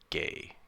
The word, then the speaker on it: Guay: change of fortune oh it's by sam guay or i think it's pronounced gay actually like rebecca i i believe that rebecca gay's last name is pronounced gay and i got that